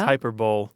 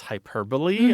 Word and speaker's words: hyperbole: catches a lot of people was hyperbowl oh sure I mean I'd read it I mean I was reading above my level which is kind of how this happens right and I didn't know that it was hyperbole I kind of understood